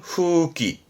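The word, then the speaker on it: 風紀: 기강이나 그런 기율을 의미하게 돼요 그래서 대표적으로 풍기 발음은 후기 후기 흔히 풍기문란하잖아요 그럴 때는요 훅 귀요미다스 뮬란의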